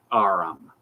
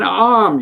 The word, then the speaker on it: arm: He pronounced it arum. An arm, you goose.